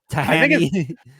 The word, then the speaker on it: Thaiany: Thaiany.